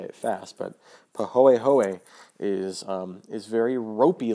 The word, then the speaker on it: pahoehoe: paw a ho a so that o and the E are pronounced separately um it winds up sounding like when people say it fast but pahoehoe is um is very